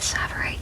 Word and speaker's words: tsavorite: about this today, so I tried to look up how to say it, and everybody said it differently. So I'm going with tsavorite because that is what a jeweler said in the video.